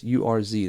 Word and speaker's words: urs: invited into the earth that's urz that or urs that's how it's spelled this word is the